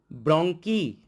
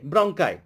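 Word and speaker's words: bronchi: ব্রঙ্কি। কি বলে বলো প্লুরাল? ব্রঙ্কাই। অনেকে উচ্চারণ করবে ব্রঙ্কাই বা ব্রঙ্কি। Okay, ব্রঙ্কাই, this is the correct pronunciation.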